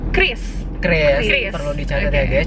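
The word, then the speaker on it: QRIS: paling benar cara bacanya Kris perlu dicari ya guys jadi cara yang benar bacanya adalah Chris jadi penting sih buat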